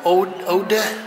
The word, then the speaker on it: Oude: pictures of an exhibition how do you pronounce Rob's last name ode okay thank you Rob the